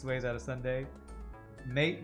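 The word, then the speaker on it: maté: Mate with an accent on the E. It's a drink from South America.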